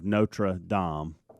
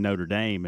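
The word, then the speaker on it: Notre-Dame: This says that the pronunciation of Notrad Dom is not natural to our tongue here in the States. See, and so to Bubba's point in the break, we basically just started saying Notre Dame and then went with it.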